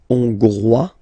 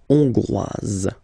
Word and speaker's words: Hongrois: Okay, Hongrois, Grois, Hongroise. Okay, so here final S not pronounced for the masculine form, and then you pronounce it here for the feminine form. Hongrois, Hongroise. Okay, les Amériques, les Amériques.